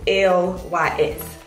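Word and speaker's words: LYS: So it's pronounced L-Y-S. So this is what it is, L-Y-S.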